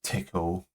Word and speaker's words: Tcl: The expect package is written in TCL uh pronounced tickle t seriously I'm not saying tickle um installation of TCL